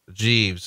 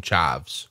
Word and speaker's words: Jeeves: Dusty mispronounced Regal's second Jeeves. Instead of calling him Jeeves, he calls him Chives.